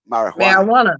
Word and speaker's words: marijuana: Ma, But as far, marijuana. but again, in the Spanish language, the J is pronounced as H, and that is why